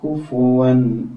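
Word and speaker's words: كُفُوًا: കുഫുവൻ അഹദ് അങ്ങനെയാണ് വായന പിന്നെ പലപ്പോഴും നമുക്ക് അബദ്ധം സംഭവിക്കുന്ന ഒരു അക്ഷരമാണ് ഇത് ഈ ഫാന് ളം ആണല്ല ഇത് പലപ്പോഴും ഓതുമ്പോൾ കുഫ്വൻ എന്ന് ഓതി പോകാൻ വളരെയേറെ സാധ്യതയുണ്ട് ഇവിടെ ളം ആണ് എന്ന് ശ്രദ്ധിക്കണം കുഫു വൻ അഹദ് എന്ന് തന്നെ മുറിച്ച് വായിക്കാൻ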